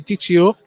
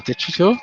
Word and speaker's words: Diccio: Timon is going to come off for number 12, Mackenzie Diccio. Or Diccio, as it's pronounced.